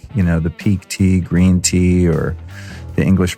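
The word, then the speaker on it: Pique Tea: forward slash store or go directly to the peak tea site which is spelled P IQ u e te a so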